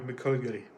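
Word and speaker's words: McGillicutty: I know how to pronounce his name, just having trouble right now with it. McGullicuddy, it's Michael McGullicuddy.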